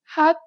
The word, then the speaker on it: 핫: This letter usually makes an H sound. In the batchim position, you need to read it as T. Listen to the native speaker. In this block, the letter appears both in the top and in the batchim position. 핫. 핫.